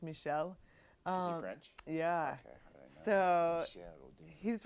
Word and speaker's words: Michel: Michelle Odin if you're American or Texan you might say Michael but it's pronounced Michelle oh that's yeah so